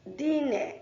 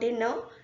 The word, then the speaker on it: dîner: And word dîner is dîner, not dinner, dîner.